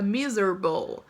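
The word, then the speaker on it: miserable: mizer bow me roubou nesse caso você não vai pronunciar o ar fica mizerable extremamente infeliz frio lá linda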